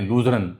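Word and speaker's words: Luzern: एक शहर उनका है लुसरन उसको कहते हैं लूजरन इधर लिखा जा रहा है तो येकि जर्मन प्रोनाउंसिएशन है तो बर्गन स्टॉक में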